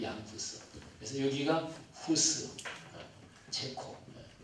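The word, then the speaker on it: Jan Hus: 체코로 발음할 때 얀 후스.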